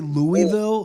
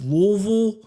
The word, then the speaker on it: Louisville: Don't say Louisville. They get very upset. It's Louisville. I dated a girl from Kentucky. I married a Kentucky woman. Louisville. Yeah. Yeah. Not Louisville.